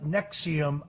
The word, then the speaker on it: NXIVM: It was the deep investigative reporting of Frank Parlatto uh that brought down the Nexium sex cult. That's spelled NXIVM.